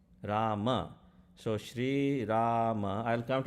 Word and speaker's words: Rama: 13 syllable mantra and you're taking one of the syllables out each time you say ram okay i'm sorry for all the north indian people but that is not how it is rama so shri rama i'll